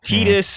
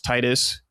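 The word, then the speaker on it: Tidus: Tetus is kind of like the most famous example. Everyone thought it was Titus until I don't care as much because like Titus does sound better, you know, but it's still rug according to Kingdom Hearts.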